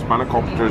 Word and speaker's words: spanakopita: Spanakopita is my new fave.